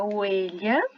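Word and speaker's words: huella: É a letra H, tá? Que no português a gente conhece como H. O exemplo aqui é oelha. Oelha é pegada, tá bom? E a letra H, ela não tem som de nada.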